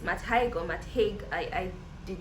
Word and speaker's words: Matt Haig: be reviewing is um the midnight library by matt hyde it's much higher matt haig i i did not bother to check the pronunciation because i didn't know i was going